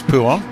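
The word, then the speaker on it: Pouhon: of fast left-hander, which I think is called Puon, but don't quote me on that. I'm not really good with corner names. Yeah, it is Puon. Puon. Yep, perfect. Yep, however you pronounce that, I'm trying to not giggle like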